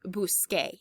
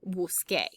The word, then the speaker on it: busqué: It's not pronounced busque. Naturally, you want to say yo busqué.